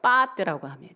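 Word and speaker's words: בעת: 사무엘상 16장 14절 후반절 말씀 법케하다라는 말씀이 있습니다.이 이 번뇌케 하다는 것은 히브리어 빠트라고 발음합니다.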